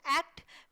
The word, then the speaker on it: ACT: एक्ट is pronounced एक्ट partly to emphasize the role that proactive behavior plays in the change process.